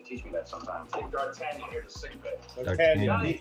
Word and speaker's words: D'Artagnan: How do you pronounce D apostrophe ARTAGAN? So, exactly. Just like that. For now. D'Artagnan.